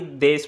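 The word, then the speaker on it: です: अगर आप जैपनीज़ में लिखोगे तो आप इसे सुई लिखोगे, लेकिन प्रोनाउंसिएशन में आप इसे खाली देश पढ़ोगे, यानी कि जैसा कि मैंने बताया था देश, ऊन की नहीं लगाओगे नीचे। प्रोनाउंसिएशन में देश, और लिखने में तो आप इसे सुई लिखोगे और इसे दे लिख रहे हो।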